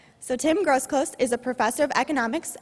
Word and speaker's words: Groseclose: Tim Groseclose. Did I say it correctly? No Z? Okay. So Tim Groseclose is a professor of